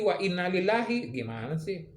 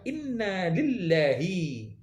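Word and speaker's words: إنا إليه: jangan menang otot doang yang bener itu pelafalannya itu ada inna ilaihi kita ini dari rela dari Allah datangnya wakinah dan sesungguhnya ilaihi Ya udah kan kepadanya datang kembali kepadanya ilaihi bukan lillahi lagi Om Deddy Corbuzier penuh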